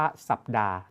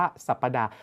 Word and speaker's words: สัปดาห์: เรา ต้อง อ่าน ว่า สัปดาห์ ถ้า อ่าน ตาม ความ นิยม เรา จะ ออก เสียง ว่า สัปดาห์ อัน นี้ เรา จะ